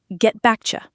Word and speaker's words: get back to you: Get back to you often sounds like get backcha.